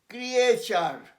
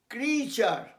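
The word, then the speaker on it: creature: ফিচার, ফিচার মানে বিভিন্ন বিভিন্ন বিভিন্ন ধর্ম, ফিচার, FEA দীর্ঘ উচ্চারণ, ফিচার, CRE, ক্রিয়ে, বললাম ভুল, ক্রিয়েচার নয়, দ্যাট ইজ রং, সেই জন্য লিখেছি ক্রিচার। ক্রিচার মনে রেখো, এই ওয়ার্ডটা ক্রিচার, ক্রিয়েচার নয়, আমি বারবার হাজারবার বলেছি, ক্রিচার, ক্রিয়েচার নয়।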